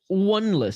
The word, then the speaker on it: Oneless: It's pronounced Oneless. So there you go. Striker Oneless. Sorry for mispronouncing your name. Welcome to the stream, brother.